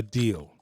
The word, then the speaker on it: Deele: from the early 80s called the deal. It's not spelled regularly. It's spelled D E L E.